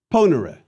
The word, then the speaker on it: ponere: And please let me remind you that it is a short E in era. Ponere.